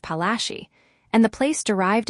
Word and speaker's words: Palashi: Placi is an anglicized pronunciation of Palashi.